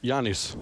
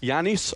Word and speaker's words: Giannis: Is that he's the only guy who can correctly pronounce my guy on the Milwaukee Bucks. Giannis Antetokounmpo. Do it again, please. Giannis Antetokounmpo.